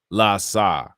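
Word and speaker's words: LAHSA: los angeles homelessness service authority acronym pronounced la saw okay thank you so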